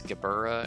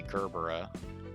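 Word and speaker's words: Gebura: reason I pronounce um it's gaburra and then it's hakma but I say I say gerbera and I say hakoma I don't know why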